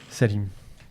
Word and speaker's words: Salim: Salim.